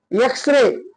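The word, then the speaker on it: X-ray: एम एल A next एक्सरे उच्चार कशापासून सुरू झाला ए पासून एक्सरे आता त्यानंतर बघा पी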